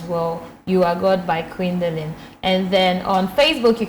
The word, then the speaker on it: Queendalyn: youtube you just type you are god by quindalin and quindalin is spelled q-u-e-e-n queen d-a-l-y-n-q-u-e-e-n-d-a-l and please whilst you